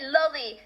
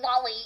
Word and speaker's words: loli: No, and by the way, I pronounce it loli, like Lolita, which is the fucking book that the term originates from, alright? Anybody who says fucking lolly, you know, like Disney here is cringe, but anyways, fucking lollipop ass eating motherfucker.